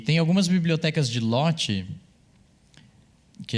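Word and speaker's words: Lottie: aqui em algum momento, que ele usa o LOT. E tem algumas bibliotecas de LOT, que é esse formatinho que se escreve assim, L-O-T-T-I-E.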